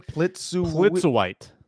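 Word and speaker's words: Plitzuweit: Plitzer White.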